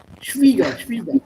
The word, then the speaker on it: Schwieger: Schwager mutter we say. No, Schwieger. Schwieger. Yeah.